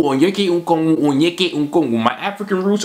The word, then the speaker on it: Onyeka Okongwu: Coming in at number 5 is Big O, aka the next impossible name to pronounce in the NBA. Say it with me, Onyeka Okongwu, Onyeka Okongwu, Onyeka Okongwu.